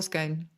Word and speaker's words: scone: What is the answer? You're going to hate me. Either. Either. It can be either or either.